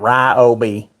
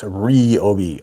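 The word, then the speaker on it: Ryobi: __ ] somebody RI that's how you say it by the way it's not R Obi it's reob r y in Asian languages makes a re sound not an r i sound like it's not Ry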